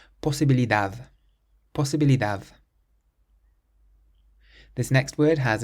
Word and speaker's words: posibilidad: It ends in a D, so we stress the last syllable. Posibilidad, posibilidad.